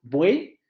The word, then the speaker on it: buey: Como por ejemplo en este caso, buey es extremadamente nítido. Ahí nosotros sabemos que existe una sola sílaba. Nadie de ustedes dividiría eso en 2 sílabas. Nadie diría buey. Ay, perdón. Si yo les digo, dime cuántas sílabas tiene esa palabra, lo más probable es que me digan que solamente tiene una.